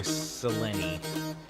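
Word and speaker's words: Selene: But no, it's Aphrodite or Seleni, I think. I keep wanting to say Seline because it looks like that, but I it's pronounced differently here.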